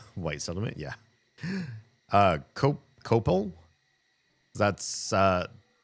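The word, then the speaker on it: Coppell: Uh, cop copel. That's uh that one is said copple.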